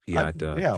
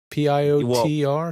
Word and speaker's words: Piotr: I think you've probably met Piat, George. Is it Piat or Piotr? Piotr, something like that? It's spelled like that, but it's pronounced Piat.